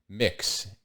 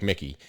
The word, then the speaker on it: Mx: little bit more that the prefix for someone who is gender neutral is mix mx so uh and i guess it's pronounced like like like my mom called me mick like mickey um mick so like mick sedito